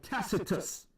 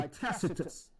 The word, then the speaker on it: Tacitus: and then you have another historical account by tacitus tacitus early in the 2 Century another reference to the crucifixion of yahawashi was made by tacitus he was considered considered one of the greatest